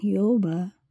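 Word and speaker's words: Yahweh: humarap kay Yahwe o ang pinakatama pong bag bigkas ng pangalan ng ating Diyos Ama ay Yahwe. Tinatawag din po siyang Jehova Jehova dahil sa marami po tayong mga iba-ibang lenggwahe.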